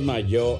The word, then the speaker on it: Mallo: Le saludan los Rieleros del Norte para decirles que aquí donde canta el gallo está el Laboratorio de Mayo. Mayo se escribe como gallo, LLO, Laboratorios Mayo.